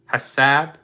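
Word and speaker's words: حساب: four you know I'm ready for the bill hasab h-a-s-a-b so that that is used for a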